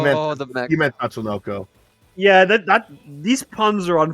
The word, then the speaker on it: Tatsunoko: Did you just say Tamako versus Capcom? I said it wrong. You said Tamako versus Capcom. Yeah. You meant The mech. you meant Tatsunoko.